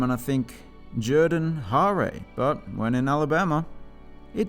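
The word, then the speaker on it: Jordan-Hare: stadium comes together nicely Jordan hair Stadium I pronounced it the proper way this time even though it doesn't sound right coming out of my mouth I don't know look at that name and I think Jordan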